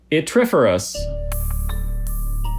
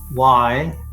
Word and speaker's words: yttriferous: Yttriferous.